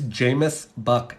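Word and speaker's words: Jamis Buck: can the book is the author is Jameis buck j-a-m-i-s buck it rhymes with Rook or tuck do I need a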